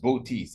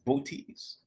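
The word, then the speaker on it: Boötes: for this constellation booties interestingly that's how it's pronounced booties it's spelled b-o-o t-e-s booties Bo like Bobo booties and this boat tease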